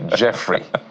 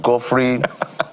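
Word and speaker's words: Geoffrey: So it's pronounced like the J, but even if it spells as G, Jeffrey. Just think of it like geography, right?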